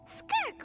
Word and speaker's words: Skirk: Skirk, right? Skirk. Okay. It was the impression That's how you she was, pronounce that.